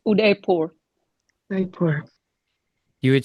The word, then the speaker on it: Udaipur: It's Udaipur. Udaipur. You would say it with an H, with a Y rather, like that? No, there's no H. Udaipur. Yeah, that sounds more like it. Udaipur.